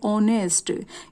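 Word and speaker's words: honest: दिखाई दे रहा है, लेकिन जब हम इसको बोलेंगे तो क्या बोलेंगे, ऑनेस्ट। यहाँ पर एच जो है साइलेंट है, तो साउंड जो है ओ की आ रही है, ऑनेस्ट पॉलिटिशियन।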